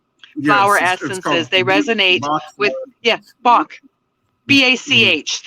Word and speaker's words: Bach: They resonate with Bach. BACH. In the United Kingdom, they pronounce it Bosch, which is really confusing for spelling.